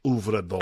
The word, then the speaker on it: Øvredal: Øvredal. I might have over pronounced that, but it's like the O with the cross in it.